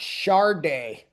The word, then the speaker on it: Sade: Shade Sadi, Sade, Sadday, Shardai. At one point she got uh signed when she split from the band and the record company in the UK put pronounced Shardday.